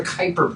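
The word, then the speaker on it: Kuiper: So, we talked about this thing called the Kyper belt and it it rhymes with Viper, but it's, you know, spelled Kiper.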